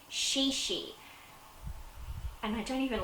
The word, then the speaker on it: ChiChi: I'll start off with Chi Chi which is actually pronounced shi shi and I don't even